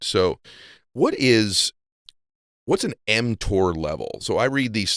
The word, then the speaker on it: mTOR: talk about before yeah you're pronouncing it correctly it's called mtor okay m stands for